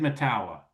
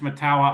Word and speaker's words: Mettawa: No, it's the mayor was on and he said Mettawa. Mayor Urlacher says it's Mettawa. I go with what Mayor Urlacher is from, I think, New Mexico. Okay, he doesn't know how to say it either. He went to Lake Forest. Until they get a different mayor, I'm going with the mayor.